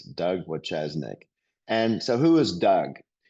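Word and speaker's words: Wojcieszak: His name is spelled exactly like it sounds, Doug Wachesnik.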